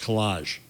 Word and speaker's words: collage: just said that's pronounced collage ask her how she says collage collage collage so the emphasis is on the second one yes it's not a